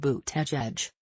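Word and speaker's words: Buttigieg: of Notre Dame academics surname is pronounced boot edge would be first openly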